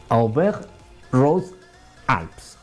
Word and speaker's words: Auvergne-Rhône-Alpes: Auvergne-Rhône-Alpes, así se pronuncia en francés, lo que se llamaba antiguamente el Tour del Dauphiné, el Criterium del Dauphiné.